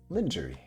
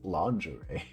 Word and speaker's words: lingerie: what do you mean it's lingery sexy lingery what do you mean that's not how you say it that's that's the only way I've ever heard it oh no okay apparently it's lingerie apparently you know see